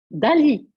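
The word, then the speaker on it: DALL-E: Et s'il vous plaît, hein, il faut prononcer Dali, comme Dali, Salvador Dali, le grand peintre.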